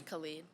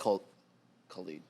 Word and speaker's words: Khalid: think it's Khalid. Khalid.